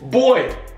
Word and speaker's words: buoy: And a buoy, if you pronounce it wrong, it wasn't a buoy. How you spell it? It's boy. Is that a boy?